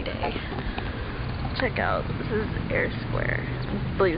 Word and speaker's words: Eyre: check out this is air Square I believe it's called pronounced like Jane Eyre or spelled like Jane Eyre it's really nice lovely